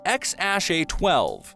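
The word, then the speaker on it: X Æ A-12: by the name of which is pronounced X Ash a12 in case you were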